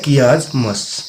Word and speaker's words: chiasmus: इसका प्रोनाउंसिएशन होता है chiasmus, CHIASMUS.